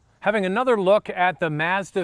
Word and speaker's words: Mazda: another look at the Mazda 3 once again for those of you who live in the United States in Canada we call it Mazda not Mazda so I am saying it correctly this is a Canadian